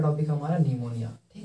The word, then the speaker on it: pneumonia: होगा लिखा हुआ निमोनिया, जिसमें आपका स्टार्टिंग में पी लिखा है, तो पी इसमें साइलेंट है, बेचारा चुपचाप है, कुछ उसका काम नहीं है, उच्चारण उसका नहीं हो रहा है। उच्चारण कहाँ से हो रहा है, निमोनिया से हो रहा है, लेकिन ये इसको हमको लिखना जरूरी है, पी उसका साइलेंट अक्षर है।